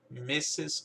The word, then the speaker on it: Mrs.: E a pronúncia disso aqui é Mrs. Mrs.